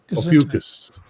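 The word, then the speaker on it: Ophiuchus: Ofucus. That's how you pronounce it apparently.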